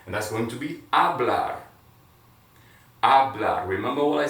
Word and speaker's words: hablar: that's going to be hablar habla remember what i said h is silent keep it silent and then we have